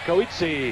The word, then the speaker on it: Coetzee: Michael Dokes, Jerry Coetzee. Is that how you say it? Coetzee from Cleveland, Ohio.